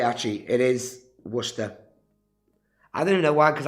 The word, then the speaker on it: Worcester: a qualified doctor and McLaren guy says it's pronounced Worcester not Worcester I never said Worchester so what's the [